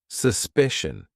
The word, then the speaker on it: suspicion: one suspicion is spelled with Sion it's still pronounced shun politician suspicion now let's look at words spelled with Tian